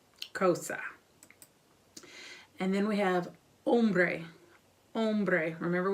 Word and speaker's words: hombre: And then we have hombre. Hombre. Remember, we do not pronounce H's in Spanish, so hombre is a man.